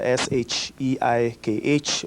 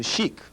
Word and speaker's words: Sheikh: Uh as they change the pronunciation to shiek.